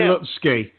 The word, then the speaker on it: Lutzke: I'd say Lutzke.